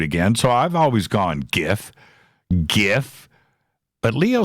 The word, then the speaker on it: GIF: are we dividing it's so gif as in God as in gay as in good graphical interface file hard G right yeah give sounds to